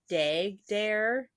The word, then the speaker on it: Dhegdheer: One of the things said dag dare, is what they pronounce it, but it's spelled Oh.